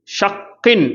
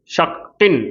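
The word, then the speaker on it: شَكٍّ: ஷக்கின் அப்படின்னு வாசிக்கிற மாதிரி, கஸ்ரத்தைன் அது கூட ஒரு ஷத்தா, அப்போ ஷக்கின் அப்படின்னு வாசிக்கிறோம். சரிங்களா? அப்போ டபுள் கவுண்ட் கொடுத்து கரெக்டாக உச்சரிக்கணும். சரிங்களா? ஷக்கின் அப்படின்னு வாசிக்கக்கூடாது, ஷக்கி அப்படின்னு வாசிக்கக்கூடாது, ஷக்கின் அப்படின்னு வாசிக்கணும்.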